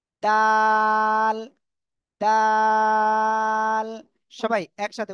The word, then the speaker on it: د: এই অক্ষরটা কি অক্ষর জিহ্বার আগা সামনের উপরে দুই দাঁতের গোড়ায় লাগান লাগিয়ে আপনারা এই অক্ষরটা উচ্চারণ করেন তাল তাল সবাই একসাথে উচ্চারণ